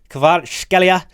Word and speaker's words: Kvaratskhelia: 5-star, Kavica Kvaratskhelia. If you're Georgian, let me know if I'm pronouncing that right.